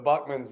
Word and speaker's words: Buckman: Bookmans, whatever, however you're supposed to say it. Y'all can unmute and say it if I say it wrong. But the bottom line is, you get to know people even through, it's Buck, all right, I said it right, okay.